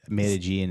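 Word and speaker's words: Medellín: I think they said Medellin is how they pronounce it.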